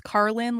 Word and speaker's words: Karlyn: It is Carlin like George Carlin except spelled way different.